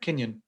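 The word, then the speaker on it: kinyan: quote from one of his books okay usually kenyan is it that's how it's pronounced yep kenyan usually kenyon refers to a mode of acquisition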